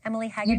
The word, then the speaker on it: Emily Hagen: Emily Hagen. Is that the right pronunciation?